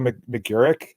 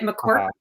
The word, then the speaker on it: McGurk: I didn't know if you pronounced all the vowels in between. It gets everybody. You are not alone. At least you didn't turn the G into a Q. I get McQuirk all the time.